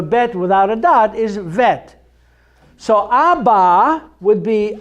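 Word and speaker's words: ב: still a bet but without a dot it's pronounced differently it's vet it's soft so a bet without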